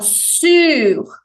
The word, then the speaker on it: sur: fazer esse som então sur lábios de U som de i o r final não é mudo ele tem que ser ouvido tá laista a pista